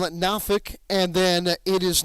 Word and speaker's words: Norfolk: It is not pronounced Norfolk. It is Norfolk. Down there they call it Norfolk.